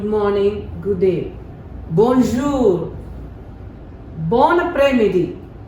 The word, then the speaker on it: après-midi: Bon après-midi. This S is silent.